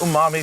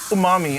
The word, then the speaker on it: umami: And again, the Worcester sauce adds that like intense umami flavor.